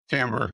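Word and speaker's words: timbre: It sounds like timber, but it's pronounced timber.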